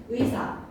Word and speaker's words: 의사: 의자로 시작하는 말 의사 의자 의지 이런 단어들은 무조건 이사이지 막 이렇게 발음하면 안 되지 무조건 의로 발해야 돼.